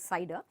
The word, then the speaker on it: CIDR: subnet mask we call this now as a cider mask cidr is pronounced as cider and we ah say it is a cider